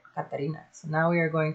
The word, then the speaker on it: Katarina: to um the homegirl i think it's katarina it's not katrina it's catarina that's how you say it katarina so now we are